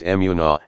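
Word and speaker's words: אֱמוּנָה: the hebraic word for faithfulness is deepen at pronounced immuno and means firmness stability security moral Fidelity yea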